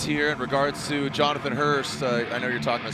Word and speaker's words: Hurst: in regards to Jonathan Hurst. I know you're talking to Spotter. What happened? Uh yeah, looks like uh the worst uh he lost an engine. Uh, it's pronounced Hurst.